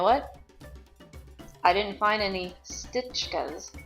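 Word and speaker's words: Štička: ancestor probably spoke with, the sh sound at the beginning got dropped. So you didn't end up with S-H-T-I-C-H-K-A. It just was Stička. And when I saw that, then all of a sudden there's all kinds of people over there with the name Stička. So it turns out that my ancestor's name wasn't Stička, it was Stička.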